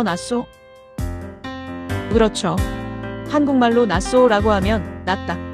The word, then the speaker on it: Nassau: 한글 표기는 나사우가 맞다고 하는데 별 의미는 없는 것 같아요. 현지에서는 낯소라고 발음하니까 그대로 써 주는게 맞다고 생각해요.